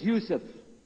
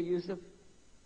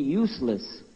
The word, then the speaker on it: Yusuf: work on it Shah my name is Yousef can you say Yousef you said Yousef you're very good I wish youd teach my wife she keeps mispronouncing it she calls me useless attention this is the